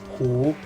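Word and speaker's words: 湖: Without prior knowledge, you wouldn't know that it's pronounced Hu.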